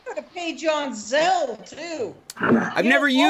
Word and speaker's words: Zelle: Actually, they have it on Capital One has Zelle. Zelle. Zelle. Z. I thought it was Zelly. Huh? I think it's Zelly. It's Zelly. Okay. Pronounced Zelly.